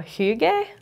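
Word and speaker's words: hygge: there's a Danish word uh hug I think is how you say it uh h y g g which refers to the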